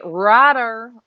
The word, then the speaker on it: Rotter: Rotter. Rhymes with Lauder.